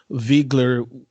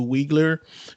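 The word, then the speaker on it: Wiegler: like the fact that they pronounce viggler with its german uh pronunciation as opposed to wiggler that's true yeah because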